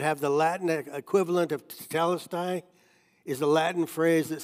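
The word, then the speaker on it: τετέλεσται: his spirit and died the Greek word for that phrase it is finished is pronounced talisi and archaeologists have found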